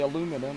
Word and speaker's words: aluminum: want to pronounce it like pronouncing aluminum we say aluminum everybody else says aluminium I'm getting me started